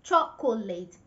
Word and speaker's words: chocolate: Three syllables, chocolate. They want to say every single letter in the word, chocolate. It's wrong. That is not correct. It's not chocolate. The right pronunciation is chocolate. Chocolate. Two syllables.